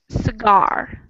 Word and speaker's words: cigar: So in cigar, we have the emphasis Cigar. on the second syllable.